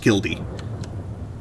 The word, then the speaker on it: killdeer: Killdeer. Cock of the rock. Yeah, Yes, these are all real birds. It's actually pronounced Kildee.